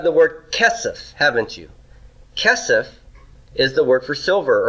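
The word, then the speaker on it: כסף: word kesef haven't you kesef is the word for silver or money notice it's got first syllable stress cast sus casas and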